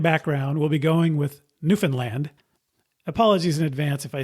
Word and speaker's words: Newfoundland: So it's Newfoundland. You're still putting the emphasis on the first part of the word, but you do say land and not lund. Anyway, one thing is for sure, the pronunciation Newfoundland that I thought was